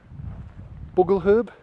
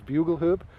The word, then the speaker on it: bugle herb: that video actually because I was calling blue M Bogle herb and I pronounced it wrong it was bugle herb because when I gonna